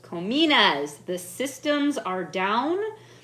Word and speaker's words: Kominas: Cominas. Cominas. The systems are down. I could be pronouncing that incorrectly, but that's the way I believe it's pronounced.